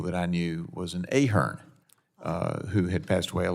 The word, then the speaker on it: Ahern: I am Ahern. Ahern, okay.